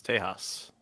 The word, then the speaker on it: Tejas: Well, if you go by the other pronunciation, it's Tejas, which means friend.